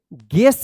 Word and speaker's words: guess: यहां पे you silent है, इसको क्या पढ़ेंगे? गेस पढ़ेंगे। GUESS गेस।